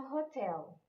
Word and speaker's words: hotel: Essa palavra tem a sílaba forte como a última, né? Então, a receptionist works in a hotel.